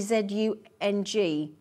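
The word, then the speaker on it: Dzung: How do you pronounce that name, Greater London? D Z U N G.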